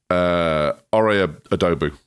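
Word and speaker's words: Ore Oduba: How do we pronounce his name? Ore Adobu.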